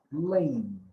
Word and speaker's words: played: But if it's in the past, we say played, d, d. Ese sonido al final de la B, la E siempre es muda. La E no la pronunciamos nunca. Entonces, el sonido es de play más el sonido de la D.